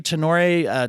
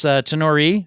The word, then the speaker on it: Tenore: I'm joined today by Mallary Tenor Tarpley, and it's Tenore, actually. I said it wrong after all that.